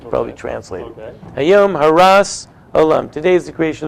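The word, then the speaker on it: הרת: Hayom Haras Olam. Today is the creation of the world. But that world, or actually if you have the Sephardic pronunciation, it's Harat.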